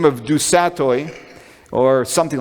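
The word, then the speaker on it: du Sautoy: Okay, so there's a very prominent British scientist and mathematician by the name of Dusatoy, or something like that it's pronounced, and he actually filled the seat of Richard Dawkins at Oxford University.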